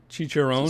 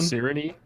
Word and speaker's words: Cicerone: I'm gonna mispronounce the shit out of this. Cicerone. Chicharron? Cicerone.